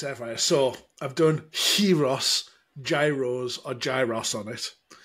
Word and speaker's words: gyros: Gyros or gyros? Heros. Oh, fuck off. Well, that was really hard, wasn't it? Heros. Who do you think you are? That's how you pronounce it in Greece.